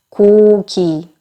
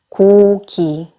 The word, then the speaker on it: 고기: 이렇게 영어 느낌으로 말씀하시는 경우가 굉장히 많아요. 힘을 조금 빼시고 고기. 아무런 억양이나 리듬도 주지 마시고 그냥 고기.